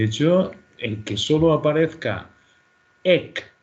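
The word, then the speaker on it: ἐκ: De hecho, el que solo aparezca ek, aunque se pronuncie ex, porque la palabra siguiente viene por vocal, ex, anactasis, ek, necrón, esta es una expresión que solo sale aquí.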